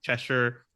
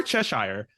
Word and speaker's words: Cheshire: enough that Roy, after developing this relationship with Cheshire, or Cheshire, I'm not bad about this. I know you were actually pronouncing it as Cheshire at some point in time.